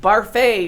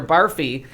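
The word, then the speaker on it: Barfée: Right, in the musical, they made him like spell with his foot, but Barfay or Barfy, everybody pronounces it wrong.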